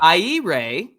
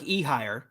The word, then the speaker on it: Ehire: I don't all right here we go yeah I Ray uhuh I Ray I Ray adrianza adrianza a adrianza yeah so it looks like ehire it's a every dayers say it with me